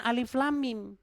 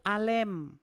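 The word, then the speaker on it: الم: Ternyata, ternyata itu bacanya bukan alif lam mim itu bacanya itu alem.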